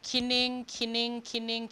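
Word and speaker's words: cyning: So we have kinning. C in Old English is pronounced, could be either a K or an S, right? So in this case, a K.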